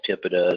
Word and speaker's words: PIPEDA: I call it PIPEDA, some people call it TIPEDA, some people call it pronounce it other ways, but it's the Personal